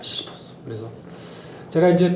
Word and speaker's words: 시시포스: 타이틀을 시지프 신화라고 붙였는데 반면에 영어권에서는 시지푸스 신화라고 보통 발음합니다. 그래서 시지푸스 하게 되면 영어권적인 발음이고요. 그 다음에 우리가 보통 그 읽고 그 발음을 할 때, 표기를 할 때, 그 뭐죠, 이제 그 자국화보다는 이제 그 발음을 살려주는 건데, 그래서 이게 이제 그 히라보로 보게 되면 시시포스입니다. 시시포스.